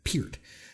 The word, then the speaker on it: Peart: Like not Pert, but Peart.